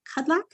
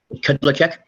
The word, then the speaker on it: Kudlacek: Before we get too far in depth, is it Kudlak? How do you say your name, sir? Kudlacek. Kudlacek. Okay.